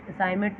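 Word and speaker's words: assignment: I have done my असाइनमेंट, असाइनमेंट में जी साइलेंट है।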